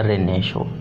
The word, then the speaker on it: Renaissance: इसकी जो स्पेलिंग है वो RENAISSANCE। इसको हम बोलते हैं रेनेशो।